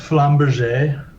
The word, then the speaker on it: flamberge: i was thinking of it's pronounced flamberge oh this is a